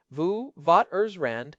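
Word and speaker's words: Witwatersrand: We are talking about the witwaters rand basin vu vat ers rand in the gaoing province.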